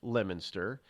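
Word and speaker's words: Leominster: pronounce it wora and Le Leo Miner they pronounce lemonster they pronounce Peabody peid It's You Can't Win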